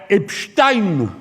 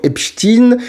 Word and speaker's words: Epstein: bien sûr que non, puisqu'il sous-entend que la prononciation Epstein, c'est pour russifier le nom, alors que c'est juste la prononciation américaine de Epstein. Même Epstein, il prononçait son nom Epstein.